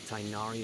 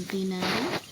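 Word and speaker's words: Tighnari: If we need help, Tainari is the best option.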